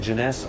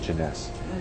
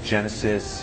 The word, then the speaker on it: Jeunesse: joining this business is to say the word Jeunesse. Some people say Genesis, you know, they can't pronounce it.